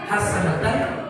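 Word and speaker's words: حَسَنَةً: Kalau guru saya mengijazahkan kalimat hasanah itu dibaca hasanatan wafil akhirati hasanatan. Jadiun hasanatan wafil akati hasanatan. Dibacanya bukan atau hasanat.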